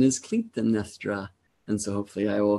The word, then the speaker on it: Clytemnestra: and Clytemnestra, who until this day I had pronounced Clytemnestra, but I had a consult earlier with a teacher who helped me know that the true pronunciation is Clytemnestra.